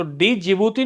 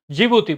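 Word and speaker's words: Djibouti: दरअसल जी जो डी होगा ना इसमें दोस्तों, ये डी साइलेंट रहता है, तो डी जिबूती नहीं बोलता, डी तो रहेगा चुप, जिबूती बोलेगा।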